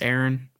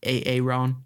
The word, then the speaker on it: Aaron: Just got done with the It's actually pronounced Aaron, not Aaron.